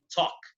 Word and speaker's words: talk: el estilo, se dice talk. Esa L no suena. Parecido a lo que pasaba con would, should o could, la L no suena. Aquí tampoco suena, ¿ok?